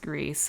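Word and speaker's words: Gris: musical game is um greece i think it should be pronounced grey but apparently it's pronounced greece according to the developers so we finished act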